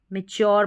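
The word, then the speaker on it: mature: मैच्योर यहां पर मैच्योर पढ़ा जा रहा है। यू आर ई को योर और टी जो है ना इसमें इसमें इसका च उच्चारण आ रहा है।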